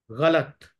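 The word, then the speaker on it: ग़लत: ही महत्व हैली गलत गलत को हम कैसे बोलते हैं ग लत इस तरह ही पढ़ते है ना उच्चारण है तो अलग पढ़ा गया लत अलग पढ़ तो जो है वो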